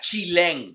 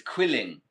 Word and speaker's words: Quilling: Okay, so I was saying it wrong. It's not Chileng, it's Quilling.